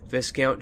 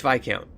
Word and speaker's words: Viscount: I think it's Viscount. I don't even pronounce the S.